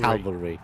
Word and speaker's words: cavalry: speech thing no no you're adding an L in Cavalry like Cav Cavalry Cavalry you don't do